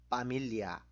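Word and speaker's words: pamilya: 가족은 파밀리아. F 발음이 P로 필리핀 발음도 되니까 파밀리아.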